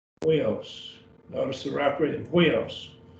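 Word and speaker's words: υἱός: And that's pronounced as we. And so we don't have that sound very much in English. Huios.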